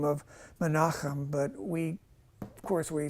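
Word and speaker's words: Menachem: any of you heard this is actually manam that's actually how you pronounce that I I was just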